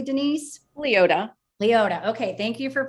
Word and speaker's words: Liota: we're super excited to talk to her denise leona did i say that correctly denise leota leota okay thank you for fixing i guess